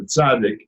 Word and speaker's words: tzaddik: say, which is the tzaddik. But if you remember the Ritz crackers, Ritz, that TZ at the end, that's what a tzaddik is pronounced like most of the time.